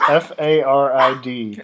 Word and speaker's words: farid: But you have to take into account this is spelling it with the accent, so you're okay.